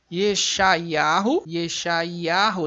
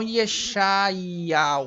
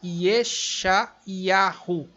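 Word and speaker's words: ישעיהו: Yeshayahu, não Yeshayal. Yeshayal não existe. Yeshayahu.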